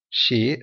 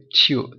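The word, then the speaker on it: sew: SCW, சியூ, சியூவிங் machine நம்ம பார்த்துருவீங்களா, சியூனா தைக்கிறது, அதுக்கும் ப்ரொனவுன்ஸ் கரெக்டாக பார்த்துக்கலாம். SCW. ஆனால் இதில் வந்து ஷோ அப்படின்னு ப்ரொனவுன்ஸ் பண்ணுது.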